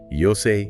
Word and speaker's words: 妖精: It sounds perfectly like an English street-style shout, but phonetically, it mimics the Japanese word for "fairy," which is "妖精(Yousei)." Means "fairy."